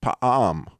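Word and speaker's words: פעם: And it's actually pronounced in Hebrew, pa'am, okay?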